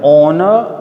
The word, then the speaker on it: honor: Now, dear students, remember, honor and honorable. Right? H is silent.